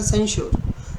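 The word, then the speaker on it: censure: सन ने, सेंश्योर मैंने सन SON वाला याद रखना है, प्रोनाउंसिएशन सेंश्योर।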